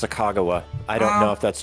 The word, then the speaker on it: Sacagawea: According to my 5th grade teacher, it's pronounced Sacagawea.